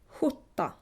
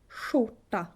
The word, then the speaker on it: skjorta: In the northern half of Sweden, you would say sh. Ch, sh, stjärna, stjärna, norrsken, norrsken, skjorta, skjorta. Swedish is a tonal language,